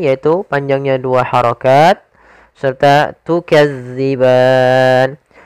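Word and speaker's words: تُكَذِّبَانِ: panjangnya dua harakat serta tukadziban hati-hati dalam melafalkan Za jangan dibaca dengan Zai karena nanti merubah maknanya tukazzi makhrajnya agar sempurna kita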